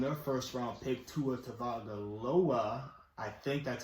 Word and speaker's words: Tagovailoa: Miami Dolphins, starting their first round pick, Tua Tagovailoa. I think that's how you say it. Close. I don't know. Tagovailoa.